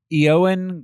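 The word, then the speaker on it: Ioan: what oh okay yeah phonetically that sounds right eoan griffi like euan euan oh like Ewan okay all right he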